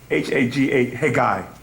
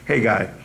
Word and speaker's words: Haggai: Their leader, Zerubbabel, known as Shabazer, which became the name of his lost tribe, and Haji, was it Haggai? Is it Haga? Haggai, that's what it really pronounces, Haggai.